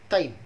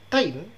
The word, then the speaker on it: Taim: Ada satu lagi Bani yang terkenal, iaitu Bani Taim.